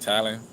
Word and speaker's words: Thailand: That's how you say it, Thailand.